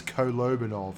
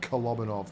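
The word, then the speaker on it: Kolobanov: tank Aces that will apparently it's cobanov not konov but I'm from Australia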